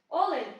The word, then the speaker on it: олень: пісню гурту ТІК Олені олені олень наголос на першому складі а в Поплавського є